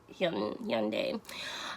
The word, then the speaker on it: Hyundai: I don't think in America we say it correctly, but it's like Hyundai.